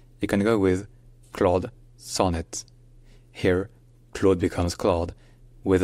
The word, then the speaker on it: Sonnet: can go with Claude Sonet here CLA becomes CLA with a slightly more open o sound and Sun his Sonet where the son runs with gone and the net runs with kits so CLA Sonet CLA